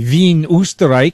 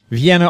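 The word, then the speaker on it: Wien: to us from I would like to say V but most people would know it as Vienna Austria did I pronounce it right me is correct yes okay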